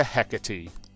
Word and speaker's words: Hecate: Persona Carmen has transformed into hecatee and yes that is how she pronounces it that doesn't mean I'm